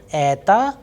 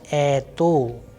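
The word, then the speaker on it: это: So in the word ether which means this the vowel sound e is under stress and the unstressed vowel is o that is why why I'm pronouncing ea and not eto because simple because of the vowels's role that once the stress is falling onto a the next vowel which is O will sound like a.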